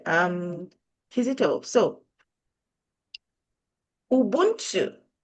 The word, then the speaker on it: Ubuntu: and by the way, in my language, Kinyanda, Ubuntu is pronounced as Ubuntu, which is pretty much just getting things for free.